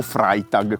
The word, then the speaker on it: Freitag: La dea dell'amore per i germani era Freia, e quindi Freitag o Freitag, come si pronuncia correttamente.